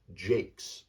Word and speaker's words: Jacquez: the Boston Red Sox his name is Joe Jake and that's how his last name is j